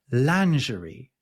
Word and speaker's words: lingerie: we pronounce this lanerie," which is way way closer to the French pronunciation.